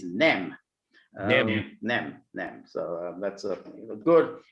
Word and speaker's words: nem: Well, no in Hungarian is nem.